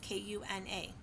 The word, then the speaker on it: Kuna: And again, is and then kuna is k u n a. So it rhymes with tuna kuna.